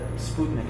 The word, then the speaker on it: Sputnik: important for the Soviets it's not that that Sputnik it's pronounced Sputnik it means friendly companion of Europe